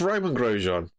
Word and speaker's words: Romain Grosjean: Grosjean, the It's Roman Grosjean. Like, why do Americans have to try and do this pronunciation thing, man?